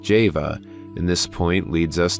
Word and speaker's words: Jehovah: by the letter jod whence Jehovah should be pronounced Java and this point leads